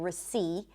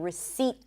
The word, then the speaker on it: receipt: This is why you're not fully hearing it, but I'm not saying receipt. I'm saying receipt. There is a T, but there is no P.